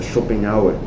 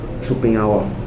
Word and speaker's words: Schopenhauer: E na verdade a pronúncia não é essa, Chopenhauer, mas enfim. Eh, já shoppenhauer, Chopenhauera, é uma coisa assim em alemão, né? É alemão, não é inglês.